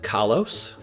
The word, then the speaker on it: Kalos: Apparently it's pronounced Kalos, which is gross and terrible, and I hate it, and I refuse.